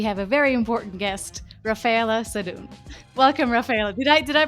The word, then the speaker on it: Raffaella Sadun: I'm Raffaella Sadun, and today we have a very important guest, Raffaella Sadun. Welcome, Raffaella. Did I pronounce it correctly?